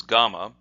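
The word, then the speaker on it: gama: And then kama, which normally it is read as gamma, is a sickle. Now in Japanese, you might ask the question, why isn't it uchikama? Well, in the Japanese language, that doesn't sound good to the Japanese ear, so they use a gamma.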